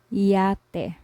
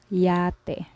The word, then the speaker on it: yate: English yo-yo boy Sunday for example yate which means yacht in English yate so we just pronounced this is the usual pronunciation of Y and another way